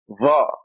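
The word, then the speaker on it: ظاء: You stick your tongue out. See my tongue? Va. Va. It's a heavy Z with sticking your tongue out. Va. I imagine the English thus would be the closest thing to it.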